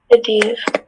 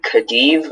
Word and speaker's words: Khedive: Khedive. Are there any alternate pronunciations? This can be Khedive or Khedive.